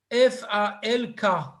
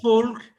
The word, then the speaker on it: Falk: F-A-L-K. Ah, Falk. Ah, d'accord. Comme Il y en a Peter, qui comme disent Peter. folk, il y en a qui disent falk.